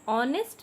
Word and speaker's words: honest: For example, an honest man. Here honest is H start from the consonant letter. But why will put an? Because HO is pronounced as O.